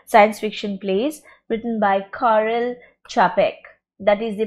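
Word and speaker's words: Karel Čapek: famous and influential science fiction plays written by Carl chapek that is the pronunciation again rossum's Universal robots let me tell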